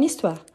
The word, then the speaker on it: histoire: C'est un excellent exemple avec H muet. On dit mon histoire. Histoire, c'est un mot féminin. Je dis par exemple une histoire. Mais j'utilise mon histoire pour faire la liaison.